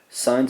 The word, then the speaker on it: sine: Sine's abbreviation sin, looks like sin, it's still pronounced sine.